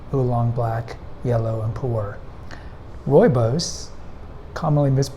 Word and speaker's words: Rooibos: black yellow and poor royos commonly Mis mispronounced ruos but it's royos depending on how you you you listen to a South African pronounce it does not come from